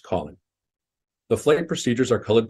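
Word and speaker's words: COLYN: five letters for example the c-o-l-y-n Waypoint would be pronounced Colin the flight procedures are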